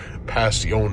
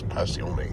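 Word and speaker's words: Passione: Yeah, it's P A S S I O N E. Pacion. I think they I think they pronounce Pacion.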